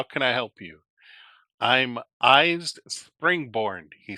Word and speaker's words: IJs: I'm Eyes Springborn, he says, pronouncing the name like eyes. Oh, it's spelled IJS.